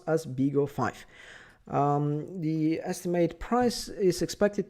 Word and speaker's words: BeagleV: uh video and actually i keep calling it big uv but actually it's big of five it's a major uh problem that i'm a pronunciation problem that i'm doing here so it's